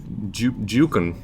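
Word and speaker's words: Juke'en: oh okay so like it's like a like a move you would do yeah but it's my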